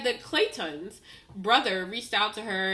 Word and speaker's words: Clayton: this back and hear how everyone else pronounces Clayton as Clayton. And hear the distinction between her, even himself, and her being like, oh, Clayton.